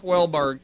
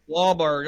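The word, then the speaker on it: Wahlberg: feel like only Mark wellberg can play dbo Sweeney I gotta you gotta say his last name right wallberg oh how do you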